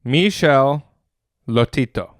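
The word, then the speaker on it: Michel Lotito: I I strive to be like this man Michelle Lotito French pronunciation French Michelle istito France June he lived from June 15 1950 to June 25th 2007.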